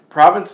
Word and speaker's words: province: blatantly so blatantly wrong province of stuff here are all VI NCE there is no D in it so it comes up